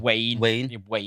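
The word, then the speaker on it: Wane: Wayne, W-A-N-E, like our Wayne.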